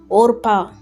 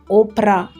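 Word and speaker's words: Orpah: Her name was supposed to be Orpa taken from a biblical character but people kept mispronouncing it as O Oprah and the name stayed.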